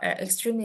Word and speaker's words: extremely: Jadi dia akhirnya diasingkan ke teleskop yang besar itu, extremely large telescope. Extremely large. Extremely large. Ya, extremely. Karena dia dari kata ekstrim tambahin ly. Ini kan kita bacanya ekstrim bukan ekstremi ya.